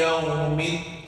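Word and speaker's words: يوم: Maliki Yawmiddin. Baru ada waw, berarti boleh gerakkan bibir, jangan lemas. Maliki Yawmiddin. Pas gilirannya gerakkan bibir kok lemas. Maliki Yawm, tidak boleh Yawm. Maliki Yawm, salah.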